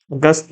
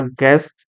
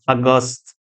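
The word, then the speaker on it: aghast: अगस्त मतलब होता है अगस्त, इसका प्रोनाउंसिएशन अगस्त। वो अगस्त नहीं जो मंथ होता है, अगस्त बोलते हैं इसको।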